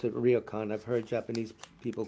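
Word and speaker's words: Ryōkan: of, I pronounce it ryokan. I've heard Japanese people call it ryokan. It's the same word they use for these Japanese guest houses or hotels that are in the rural areas, etc.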